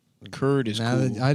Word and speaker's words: Kurd: It doesn't just because it rhymes with turds. Kurd is Now cool.